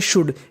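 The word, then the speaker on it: should: इसे हम लोग पढ़ते हैं शुड। ये हमारी इंपॉर्टेंट मीनिंग है। याद रखिएगा। आपको कहीं पर एस एच ओ यू एल डी लिखा मिले तो इसे पढ़ना है शुड।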